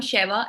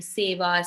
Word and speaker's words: Sheva: ठीक है, मेरा नाम Sheva and what not people have called me Seva, Sahiba, Shevya, Shiva, Seema, Sheila.